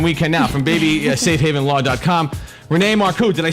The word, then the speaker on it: Renee Marcou: Renee Marcou, did I say it right?